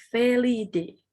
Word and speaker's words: Felidae: Jadi tapi dibacanya adalah Felidae.